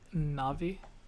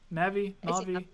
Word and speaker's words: Navi: I want to say Navi. How do you pronounce I say it? Navi. Navi? I say Navi. Because it's supposed to, I think I read it was supposed to be short for navigation because Navi guides you through the game.